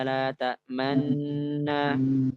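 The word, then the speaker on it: لا تأمنا: para masyayikh mutabarah adalah dengan ismam, dengan ismam, yaitu dibaca dengan malaka la ta'manna manna.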